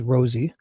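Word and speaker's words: Rozzi: Brad Rosie, because he likes to pronounce it as Rosie.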